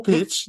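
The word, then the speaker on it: Topić: 니콜라 토, 토피치. 네. 그쵸. 토피치라고 읽는군요. 아, 네, 맞네. 네. 이게 참 세르비아 선수니까 이렇게 피치라고 또 해줘야 되는구나. 네, 요키치도 뭐 이렇게 하니까.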